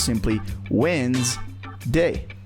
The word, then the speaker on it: Wednesday: If you read it the way it's spelled, it would sound like Wednesday. But in reality, it's just 2 syllables. The way you pronounce it is simply Wednesday.